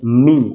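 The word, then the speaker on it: ميم: হরফ 29 টার ভিতরে দুইটা হরফ আছে যে দুইটার উচ্চারণ নাক দিয়ে হয় নাক দিয়ে উচ্চারিত হয় আপনি যদি নাক চেপে বলার চেষ্টা করেন তাহলে হবে না যেমন একটা হলো নুন আরেকটা হলো মিম।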